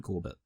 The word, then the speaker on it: Corbet: Benjamin Corbett. Brady Corbet. Oh, yeah, okay. It's pronounced Stephen Colbert. Corbet, by the way. It's a French pronunciation, which is interesting.